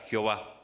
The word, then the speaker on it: Jehová: traducción y y y lo que sería la pronunciación o la transliteración en español no pero respuesta sencilla Jehová Muy bien gracias vamos a a respondimos la